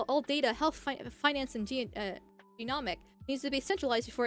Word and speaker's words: genomic: You have to take all of your healthcare data, your diagnostic data, your electronic health records, your genomic data.